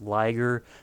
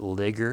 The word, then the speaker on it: Liger: It's Liger, but a lot of people pronounce it Ligger. I'm like, how do you get Ligger? The I makes the I say I. That and it's very damn close to saying tiger.